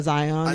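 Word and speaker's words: A'zion: Zion.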